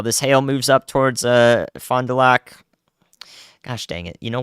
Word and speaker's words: Fond du Lac: Lac, Fond du Lac. Just the Lac. I said it right. Let's go. Thank you, guys. Hey, I remembered. So that hail's about to move into Fond du Lac.